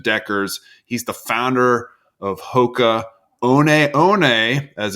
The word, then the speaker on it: Hoka One One: of innovation at Deckers he's the founder of Hoka on on as it's properly pronounced and I think this episode is fascinating